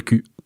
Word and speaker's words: cul: Dans le cul. Dans le cui. Dans le cul. Enfin, on ne prononce pas le L, mais comme vous voyez le niveau de cette émission quand même.